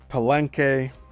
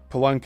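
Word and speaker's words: Palenque: religious enclosures in parenthesis eg Stonehenge Machu Picchu palenke palenke is spelled p a l e N Q U E Mount Shasta and many among many examples and parenthesis.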